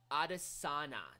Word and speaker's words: Adesanya: Adesanya. That's how you pronounce Israel's last name.